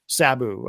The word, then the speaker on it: Sabu: Uh at the age of 60, Sabu passed away. Or is it Sabu or Sabu? What is the correct way to pronounce? Saboo.